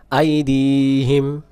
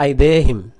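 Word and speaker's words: أَيْدِيهِمْ: আবার ইয়ালামু, সবাই বলেন ইয়ালামু মা বাইনা আইদিহিম ওয়ামা খলফাহুম। এটা অনেকে বলে আইদেহিম, আইদিহিম, আইদি দিয়া গালিফ, টান্না দিলে অক্ষর বাদ চলে যাবে।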